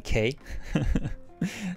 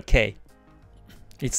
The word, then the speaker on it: K: Just to remind you that my letter, my name is like a K, right? Like a letter K. It's not Kai. It's not Ki, right? My pronunciation of the name is K, right?